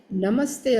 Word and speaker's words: namaste: When we say namaste astu, actually it is namaha plus te, but visarga convert into half sa. That's why it is namaste.